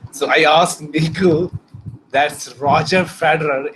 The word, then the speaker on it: Roger Federer: So I asked Nico, that's Roger Federer is the correct way of pronouncing it.